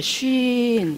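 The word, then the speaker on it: σύν: 쉰. 이런 단어예요. 이런 단어. 이게 S가 아니, 신이 아니고 헬라어에 있는 거예요. 쉰. 굉장히, 이게 발음은 쉰이에요.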